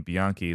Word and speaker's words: Bianchi: ironic coming from me with my last name being Bianchi that ends with a CHI. I should know that a CH sometimes is a hard C.